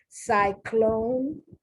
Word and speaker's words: cyclone: Notice the C before the Y has a different pronunciation after the Y. I love things like this because it's really small and it's nuanced, but I love things like this. The C before the Y takes on the soft sound. The C after the Y and is followed by a consonant takes on the hard sound.